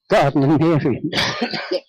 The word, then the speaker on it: Gardnerian: Alexanders, the Alexandrians, as they call themselves, or the Gardnerian. I can never pronounce that word. Gardnerian.